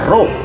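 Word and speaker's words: ρ: Nah, ini dibacanya rho, ya.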